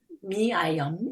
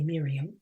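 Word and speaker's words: Myriam: Well, Dr. Miayum is the French pronunciation of Dr. Chancet's first name. I would say Miriam, but it's actually pronounced Miayum in French.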